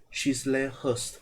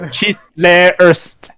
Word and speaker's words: Chislehurst: The name of this road was proposed as Chislehurst in 1955.